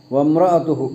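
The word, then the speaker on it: وَامْرَأَتُهُ: വംറഅതുഹു വംറ ചിലപ്പോൾ ഓതുമ്പോൾ എന്ത് സംഭവിക്കുക, ബായിൻ്റെ ഉച്ചാരണം പോലെ വരും. വംറഅതുഹു അങ്ങനെ വരാൻ പാടില്ല. വംറഅതുഹു വംറഅതുഹു വംറ എന്നാവില്ല, ചിലപ്പോൾ വംറ എന്നാകാൻ പാടില്ല. വംറഅതുഹു വംറ വംറ അത് ശ്രദ്ധിക്കണം.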